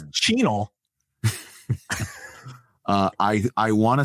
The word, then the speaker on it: Chenal: It's Chenal. I want to say that the pronunciation guide is Chanel, but it's spelled wrong.